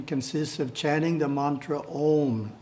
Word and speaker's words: Om: The first syllable is pronounced Ah. The second syllable is pronounced Oo. The third syllable is pronounced with the front teeth gently touching in the process.